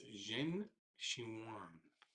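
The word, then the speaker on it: Zheng Qinwen: China is Qinwen Zhen. Actually, I do know how to pronounce her name. It's Zhen Xinhuan.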